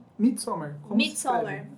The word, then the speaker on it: Midsommar: O Madison, como que se pronuncia? Midsommar.